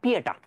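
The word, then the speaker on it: Pietà: বিখ্যাত চিত্রকর্মের নাম জানি পিয়েটা। তুমি চাইলে অনেক কিছু পড়তে পারো, তবে একটা জিনিসই মনে রাখতে হবে, পিয়েতা। অন্য কিছু ভুলে যাও, পিটা বা পিয়েতা তুমি যেভাবে উচ্চারণ করো না কেন, এটা ইতালিয়ার ভাষায়।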